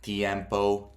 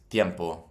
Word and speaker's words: tiempo: It's not tiempo. It's tiempo. It's one sound.